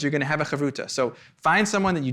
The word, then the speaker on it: havruta: We're going to wrap up your Chavruta.